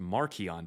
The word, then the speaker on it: Marcion: out in 144, and Marcion is what we call him today. His name was actually pronounced Markion back then, and that means little Mark.